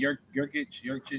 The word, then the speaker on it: Yurcich: Yurcich.